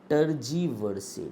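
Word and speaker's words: tergiversate: टी ई आर जी आई वी ई आर एस ए टी ई टजीवर्स। ठीक है? ट टजीवर्स टर्जिव ये वर्ड ध्यान रखना। ठीक है ना? इसकी प्रोनाउंसिएशन यही है। बस आप थोड़ा सा ब्रिट उसमें अमेरिकन में अलग हो जाती है।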